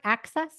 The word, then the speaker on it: AXS: and this is on um what's the network access is that how you pronounce it a ACC Access TV AXS TV